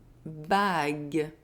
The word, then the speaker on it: bague: So each time you see the letter G and U together plus a soft vowel, I or I, G and U are going to be pronounced G, as in une bague, un guide.